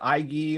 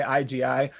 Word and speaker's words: IGI: It looks like IGI, so some people might pronounce it Iggy, or they might just say IGI, but it's called the Iggy Principles, and it's the opposite of the word ego.